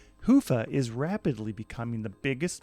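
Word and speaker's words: Hyvä: Talk Commerce is sponsored by Haifa, or as the Europeans say, Hoofa, or the right way to say it. Hoofa is rapidly becoming the biggest Magento front end after Luma.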